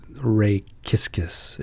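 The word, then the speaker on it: rachischisis: a cranios giscus it's almost like saying just kiss kiss to ray kiskus yes ray kiskus right kiss kiss kiss and cranioscis cranios quiscus or kisses it's re it's really more like kiskus to say it right but anyway there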